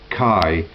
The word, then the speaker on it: chi: 600, the letter X pronounced Chi in Greek, and which was, or Christ, or Ch, and which was the first letter of Christos in Greek.